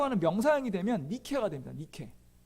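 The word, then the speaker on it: Νίκη: 명상이 되면 니키가 된다 니케 nike k 입니다 그걸 영어로 발음하면 나이키가 됩니다 나 익힌 다 아시죠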